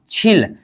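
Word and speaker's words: 칠: तो इसको बोलेंगे क्या छिल छ प्लस ही छी हो गया। र नीचे आ जाने पर उच्चारण क्या होगा? ल। इसका उच्चारण क्या हो गया? छिल। क्या?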